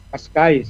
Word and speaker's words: Cascais: Anong pronunciation nito? Cascais? Portugal? Cascais, yeah.